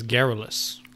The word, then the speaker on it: garrulous: __ ] alright so the proper pronunciation is garrulous garrulous garrulous I mean Andrew he's